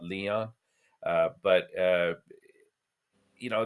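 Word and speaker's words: Lyon: Copley against the um I think you pronounce it lion and not Leon uh but uh you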